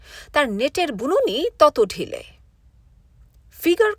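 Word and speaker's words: figure: ফিগার কথাটার ফরাসি উচ্চারণ ফিগুর, অর্থ মুখের চেহারা।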